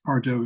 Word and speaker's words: bardo: or do actually but Pardo is the way it's pronounced when it's a noun and uh it means